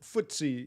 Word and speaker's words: FTSE: Times stock exchange so ftse it's easier to spell if you know what it stands for uh but footsie yeah that's how you would spell it but it's an acronym